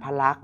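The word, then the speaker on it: พระลักษณ์: นะ พระ ลักษณ์ เนี่ย ก็ สะกด ยัง ไง เอ่ย ใคร จำ ได้ ล ไม้ หัน อากาศ ก ไก่ ส ฤาษี ม ม้า ณ เณร แล้ว ก็ ทัณฑฆาต สังเกต ว่า ไม่ ออก เสียง ทั้ง หมด เนี่ย 3 ตัว นะ ครับ เพราะ ฉะนั้น สรุป อีก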